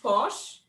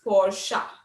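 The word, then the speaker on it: Porsche: you feel posh but is it pronounced posh or porche the correct pronunciation is for sha the next brand is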